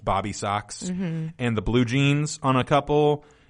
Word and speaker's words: Bob B. Sox: It's probably supposed to be pronounced Bobby Sox.